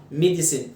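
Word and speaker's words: medicine: ميديسين 3 syllables والاي في الاخر سايلنت.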